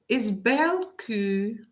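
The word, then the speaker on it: Bellecour: So now the pronunciation in French is Belcourt, which means beautiful heart.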